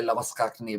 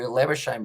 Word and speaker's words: Labuschagne: So yeah, South African or Afrikaan, they do say Labuschagne, but for Labuschagne, he does prefer Labuschagne, believe it or not.